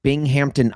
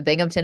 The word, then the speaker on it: Binghamton: Yeah, that was my first sports internship, the Binghamton Iceman, the BC Iceman. Yeah. Now I went down a wormhole of it's Binghamton? Binghamton? So people pronounce it like it has a P in it, like Binghamton, like it's the Lost Hamptons.